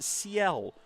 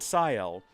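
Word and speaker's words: Sciel: as well as uh Juliet who's joined the chat to inform me that it's pronounced seel, not scel, I guess, or or skill is technically how it's been spelled in the chat.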